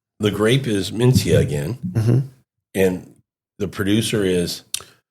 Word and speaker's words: Mencía: Is it Mencía? Mencía. Mencía. It's not a TH sound. Somebody told me it's supposed to be a TH could sound.